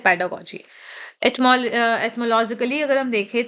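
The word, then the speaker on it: pedagogy: पेडागोजी को बहुत लोग पेडागोगी पढ़ते हैं। मैंने कई बार लोगों को सुना है पेडागोगी। पेडागोगी रॉन्ग प्रोनाउंसिएशन है। आप यहां भी देख सकते हैं पेडागोजी। ठीक है? ये ग है और यह जा है।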